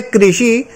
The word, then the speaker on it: कृषि: जो पहला शब्द है कृषि कुछ जगह इसको बोलते हैं कृषि यह बोलते क्रश य दोनों अलग अलग चीज है यह कृषि में जो है यह री की मात्रा लगी हुई है लेकिन इसका उच्चारण लोग